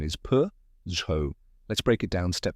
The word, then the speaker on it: Peugeot: t it might look tricky but the correct pronunciation is p z let's break it down step by step first